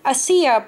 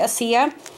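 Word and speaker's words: açaí: And then it's called the Trader Joe's Unsweetened Organic Acia Puree Packets, correct? That's how you pronounce it, Acia.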